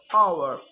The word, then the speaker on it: hour: And sometimes it's not pronounced at the start of a word, like honest and hour.